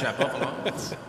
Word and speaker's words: Shapovalov: As much as I like Fergus, he's mispronouncing. He is. And so we have to explain that's why. As Dennis says, his own name, Shapovalov.